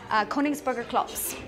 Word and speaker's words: Königsberger Klops: How do you pronounce that? Königsberger Klops.